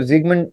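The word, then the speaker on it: Sigmund: तो जो इसको सिगमंड फ्राउड भी कहते हैं लोग, सिगमंड फ्रॉइड भी कहते हैं लोग, बट इसको जिगमंड जिगमंड इज the actual pronunciation as much as आई can recall.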